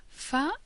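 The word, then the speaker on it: ف: the next two letters fa is pronounced as a normal f as in Fun For example is similar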